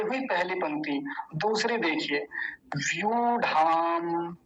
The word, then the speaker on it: व्यूढ़ाम: दूसरी देखिए, व्यूढ़ाम, व्यूढ़ाम, बड़े ऊ की मात्रा है, लंबा खींचेंगे, व्यूढ़ाम, द्रुपद।